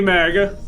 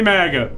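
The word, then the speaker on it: Muga: what's going on everybody my name's magga sorry Maga Maga but it's spelled m u GA not late to think mugga it's dutch badly baked thank you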